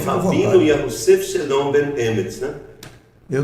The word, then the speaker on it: Yahusef: Eu pronuncio Yahusef.